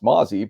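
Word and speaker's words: Mazi: We were rolling along well once we I think there are a lot of people who maybe don't know it's pronounced Mozzie, but Felix Anudike-Uzomah.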